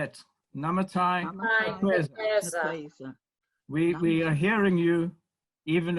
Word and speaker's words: Namatai Kwekweza: Namatai Kwekweza. Namatai Kwekweza. I'd like us all to say it. Namatai Kwekweza.